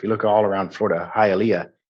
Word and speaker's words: Hialeah: look all around Florida Hialeah it's pronounced hayat lit and that um I